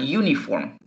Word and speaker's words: uniform: Aquí podríamos imaginarnos que se escucharía bien y hasta sería engañoso para cualquiera decir an uniform.